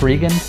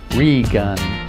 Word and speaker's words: Reagan: Yes, for all my beta readers out there, it's pronounced Regan. It's spelled Reagan, like Mr. Gorbachev, that kind of Reagan. Sounds like re-gun, like I lost a gun, so I'm gonna re-gun.